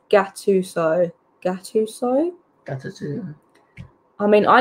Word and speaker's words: Gattuso: I'd take Sean Dyche over Gattuso.